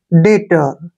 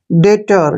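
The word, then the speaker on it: debtor: बी टी ओ आर यहां पर टी से पहले अगर बी आता है तो बी को हम साइलेंट रख देते हैं बी हमने नहीं पढ़ना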